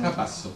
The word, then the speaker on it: Capasso: président Capasso et Capasso, si dice in italiano Capasso. Capasso. Il y a l'accent tonique est toujours un problème pour les Français.